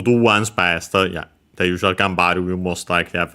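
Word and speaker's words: 頑張る: Uh so yeah be careful and by the way yeah again we have to change from haru to bar.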